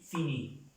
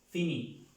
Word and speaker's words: finit: La tercera persona del singular se pronuncia igual que estas dos personas, pero ya termina en una T. Fini.